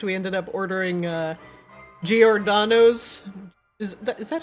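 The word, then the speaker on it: Giordano's: We ended up ordering uh Georganos. Is that is that how you say it? C Swab. Gordanos.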